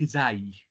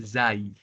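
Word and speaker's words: زاي: Alors, pour la lettre Zaï, j'ai entendu beaucoup de personnes qui ont prononcé Za. On la prononce Zaï.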